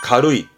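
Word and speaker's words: 軽い: 보이니까 체크해 두 개야 뜻으로 읽힙니다 의미는 가볍다지요 발음은 가루이 가루이 잘 씁니다 그러면 앞에가 기자잖아요 기경이라는 말은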